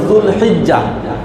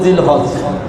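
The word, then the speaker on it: ذو الحجة: তারপরে হলো যুলহিজ্জা, আমরা বলি জিলহজ, এটাও কিভাবে আসলো আল্লাহ ভালো জানে। তো যুলহিজ্জা এটা হলো সঠিক উচ্চারণ, যুলহিজ্জা।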